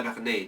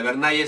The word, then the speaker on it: Bernay: un caballero no caballero de la berney no de la bernay se pronuncia berney no entonces Julián resulta